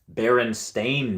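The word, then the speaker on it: Berenstain: i remember those guys but how would you spell it it's uh bernstein b-e-r-n-s-t-i-n no it's b-e-r-e-n-s-t-a-i-n baron stain bears like does not compute does not compute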